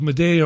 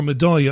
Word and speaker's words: Madaya: the Syrian town of Meda or madaa I think it's pronounced madya and the massive media